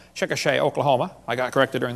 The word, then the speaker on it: Chickasha: textbook still has it 2005 textbook and I pronounced it wrong as Chickasha that's Chickasha Chickasha Oklahoma I got corrected during the break uh